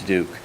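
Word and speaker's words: Diduch: Duke for the record my last name is spelled d-i-d-u-c-h and pronounced Duke I wanted to take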